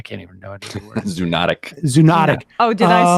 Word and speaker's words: zoonotic: I mean, to the extent that there is evidence, it's all on the zoolistic. I can't even know the word. Zoonotic.